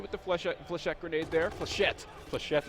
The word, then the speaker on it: flechette: Flechette is how you pronounce that grenade. It's French, I'm sure it is.